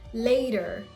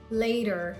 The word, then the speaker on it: later: Or the word later. Later. Not later, no. Later. It's a very soft da. It's not later, no.